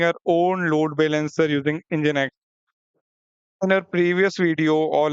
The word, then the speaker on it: Nginx: मैं आपको बता दूं इंजन एक्ट को हम प्रोनाउंस करते हैं कुछ ऐसे इसको हम बोलते हैं इंजन इंजन एक्स ओके इसको हम बोलेंगे इंजन एक्स अब ये होता क्या